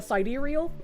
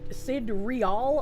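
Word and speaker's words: sidereal: Both uh Cidereial and Sid Sid real are accept.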